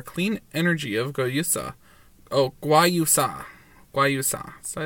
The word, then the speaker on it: guayusa: Magic of chia plus clean energy of guayusa. We lovingly combine the powerful nutrients of chia with our clean energy of guayusa. Oh, guayusa.